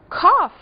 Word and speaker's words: cough: Pois é, esse final aqui também é pronunciado como F. Cough é tosse. E até é mesmo o som que a gente produz quando tosse. Cough, cough.